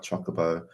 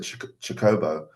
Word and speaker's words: Chocobo: going sometimes I'm like chocoo sometimes I'm like Chocobo and then I've heard someone pronounce it chobo CH chobo well chobo well this is an